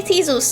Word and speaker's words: Theseus: We shall be Theseus.